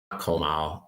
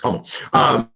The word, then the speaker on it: Komal: But it's not Komal. It's Komal.